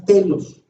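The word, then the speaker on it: τέλος: la pongo en griego y entre comillas se pronuncia telos según el diccionario strong strong griego es la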